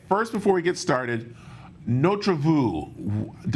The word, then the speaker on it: Notre Vue: before we get started no travu am I saying it right and what is Notre vu uh yeah you you phonetically you've got it pretty much correct and notreview means our